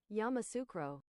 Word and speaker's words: Yamoussoukro: Yamoussoukro pronunciation. Yamoussoukro.